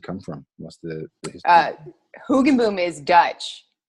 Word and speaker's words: Hoogenboom: Here we are with Hoogenboom. Is that how I pronounce that?